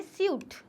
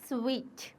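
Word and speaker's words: suite: हम कहते हैं स्वीट बहुत सारे लोग इसे गलत प्रोनाउंस करते हैं और कहते हैं सूट इट्स नॉट सूट इट इज स्वीट okay next what we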